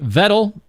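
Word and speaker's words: Vedal: Of course, created by Vettel. Rhymes with pedal.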